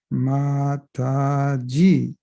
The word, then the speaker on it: Mataji: Mataji, that's how you say it.